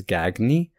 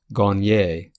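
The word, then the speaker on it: Gagné: We do have a name, Gagne, in America, so many Americans would mispronounce it as Gagne, but this name is actually pronounced Gagne with the proper French pronunciation.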